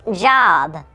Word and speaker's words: Job: today we will be telling the story of job it's pronounced job i'm pretty sure it's job hey potato potato